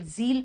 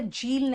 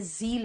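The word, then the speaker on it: zeal: एंड जील, जील बेटा झील नहीं है ये जील है.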